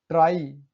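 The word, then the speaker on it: try: अंतिम में वाई हो, शब्दों का अंतिम वाई है भाई, वाई से पहले एक या दो कंसोनेंट हो, ठीक है। वाई से पहले एक दो कंसोनेंट है का उच्चारण आई होता है, जैसे जुलाई, ट्राई, साई।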